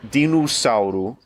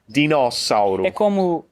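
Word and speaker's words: dinossauro: Because normally, when an O is not the penultimate syllable, we close the O. But in this case, the O is more open. It should be 'dinussauro', but it's 'dinóssauro'. R: It's like us saying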